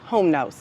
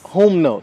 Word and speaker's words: Humnos: let you do it it's whom no whom no yeah so think like Loom like Fruit of the Loom Fruit of the Loom so whom whom and then no no whom no whom know okay yeah